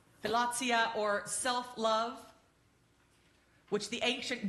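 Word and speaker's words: philautia: I had to look up how to pronounce it. Philotia. Philotia or self-love, which the ancient Greeks saw as necessary.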